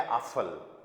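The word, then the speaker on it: Apfel: पीएफ का sound हमें हमेशा करना है फ। पीएफ का साउंड हमेशा क्या करेंगे? फ साउंड करेंगे। ठीक है? जैसे for example A पी एफ ई एल। पीएफ का साउंड क्या आएगा यहां पर? फ ए का साउंड आ। पी एफ का फ इल। इल मैं अभी आपको कुछ एंडिंग में पढ़ाने वाला हूं। ठीक है? तो अभी आपको इस पे फ साउंड करना है। ये वर्ड पूरा बन गया आफल।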